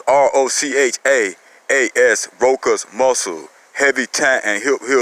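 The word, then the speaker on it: Rochaas: You can use that C like a K. So it's R-O-C-H-A-A-S, Roka's muscle.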